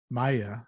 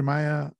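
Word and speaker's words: Maia: Geologist Dr. Carl Maya, I believe is how it's pronounced, is on an expedition in the upper Amazon basin, and he discovers a fossil embedded in some rock.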